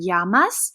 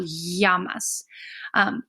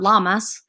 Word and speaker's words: llaman: double L here in Yama's when we have a double L in Spanish we're going to pronounce it kind of like a Y so yamas so when you see